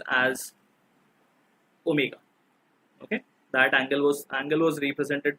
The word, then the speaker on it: omega: This symbol is pronounced as omega.